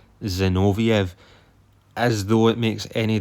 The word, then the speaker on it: Zinoviev: I said Igor Zevoniev and it's actually Igor Zinoviev.